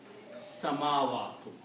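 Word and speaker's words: السماوات: You put a shutdown scene and don't put anything on lam, because the sound of lam will go away and sound of sin becomes 2 times. So you pronounce as samawatu.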